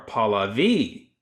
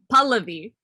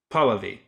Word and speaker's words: Pallavi: if it's Pallavi, or Paula V, or none of the above. That's what I thought. It's Pallavi. Pallavi. Yeah. So the emphasis is on the first syllable, and it's like an.